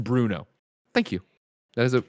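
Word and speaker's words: Brno: 1988 who says greg the city in the czech republic is pronounced bruno thank you that is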